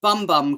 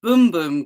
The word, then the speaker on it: Bum Bum: to uh seoul degenerate bum bum cream or boom boom cream as it should be correctly uh pronounced um i know that's